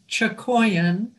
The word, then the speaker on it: Chakoian: you know what i haven't heard your name pronounced aloud since you were introduced to that congregation my last name is chokoyan okay and i'm married to john schustisky and